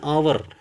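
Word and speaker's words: hour: The maximum speed is द 60 miles an आवर। यहां पे एन का यूज़ किया गया। क्यों? क्योंकि आवर में एच साइलेंट है।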